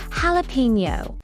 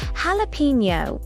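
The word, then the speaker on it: jalapeño: Jalapeno. Jalapeno. The J sounds like an H. Jalapeno.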